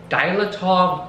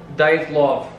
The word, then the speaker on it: Dyatlov: And now, I don't even know if I'm pronouncing this right, but it's called the Dilatov Pass Incident. It's Russian. Let me see. Dilatov Pass Incident. Dyatlov. Dyatlov Pass Incident.